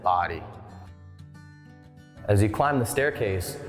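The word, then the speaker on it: Bodie: this lighthouse' name but here in the Outer Banks we do pronounce it body as you climb the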